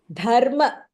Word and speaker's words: धर्म: Dharma That dha is Mahapranah.